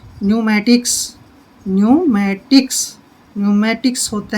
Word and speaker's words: pneumatics: अब जैसे ये है PNEUMATICS, पेन्यूमेटिक्स नहीं पढ़ना है, पेन्यूमेटिक्स नहीं पढ़ना है, पी साइलेंट रहेगा, इसको बोलेंगे हम न्यूमेटिक्स।